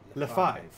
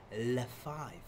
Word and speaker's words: Lefebvre: If you say my last name, the best way to pronounce it will be Lefebvre. Lefebvre. Lefebvre? Interesting, huh? Lefebvre. Really? L-E. Lefebvre. Then it's like silent B and R.